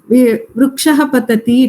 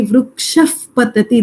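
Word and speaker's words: वृक्षः पतति: Same thing when the visarga has pa or pa in front of it, then the pronunciation will not be vrukshah patati, it will be vrukshaf patati.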